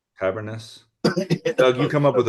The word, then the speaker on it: Tabernas: Tabernas Festival in Spain. It's like Cavernous, I think. Tabernas.